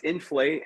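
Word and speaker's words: Infl8: say your newest product infla 8 is that how you say it i mean it looks really damn good thank you so much yeah no it's inflate uh we tried to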